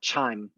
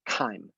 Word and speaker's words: chyme: is called chyme chyme it rhymes with time it's not chime it's chyme so after you have